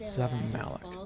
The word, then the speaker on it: Savamelek: Savamelek, that's how you pronounce that.